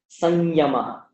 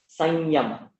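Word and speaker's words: संयम: But if it precedes ya, then remember the place in the mouth that these letters are made. Ya is made in the talu, and so you get the talu version of the anuswara, which is ya, so it'll become something like sanyama, sanyama, that kind of thing.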